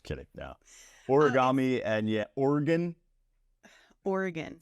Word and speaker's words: Oregon: Trail and I thought no stop Oregon not Oregon you can't say oron Oregon I also I practice